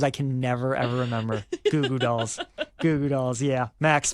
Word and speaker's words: Goo Goo Dolls: Two O's makes a ooh sound.